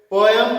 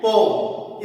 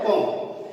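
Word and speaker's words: poem: कोई इसको पोएट्री पढ़ता है, कोई पोएम पढ़ता है, कोई है, तो ये पोएम नहीं है ना पोएम है, ये है पोम. इसका जो सही उच्चारण है वो है पोम.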